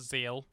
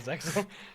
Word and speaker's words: Zexal: Zexal when they started It's spelt Zexal, but it's pronounced Zeal. Really? Is it? Oh, for fuck's I sake. always thought it was Zexal.